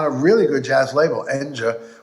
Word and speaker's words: Enja: I got my first solo record that was of my music on a really good jazz label, Enja, which is pronounced Enya Records in Europe.